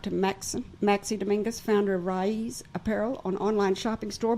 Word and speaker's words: Raiz: Raiz.